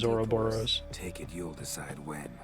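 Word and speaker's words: ouroboros: the mask of herberos now heard games pronounce that word in four different ways of course I think it sounded cool as soon bravely defaults I think the actual Greek pronunciation is oroboros take it you'll decide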